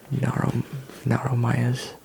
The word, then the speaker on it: Naromayas: You will be facing the Naromayas. Yes, that's how you pronounce it, the Naromayas.